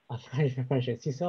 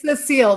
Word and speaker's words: Cecile: So I think Cecil, or sorry. It's Cecile. That's okay, Cecile. Yeah, I see the way it's spelled.